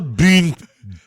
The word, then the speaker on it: Bündchen: Giselle Bündchen. There's almost two syllables in the U, so it's a Bündchen. Giselle Bündchen. And then a hard stop. Chin.